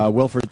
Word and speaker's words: Wilfred: And Wilfred is, am I saying it right, Wilfred? I kept saying Willard. It's so hard to not say Willard.